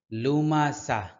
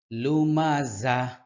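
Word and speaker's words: لُمَزَة: হুমাজাতিল হুমাজাতিল হুমাজাতিল লুমাজা ঝা এর উচ্চারণ শক্ত হবে ঝা অনেকে বলে লুমাসা লুমাসা সম্পূর্ণ ভুল লুমাজা লুমাজা শেষে একটা হা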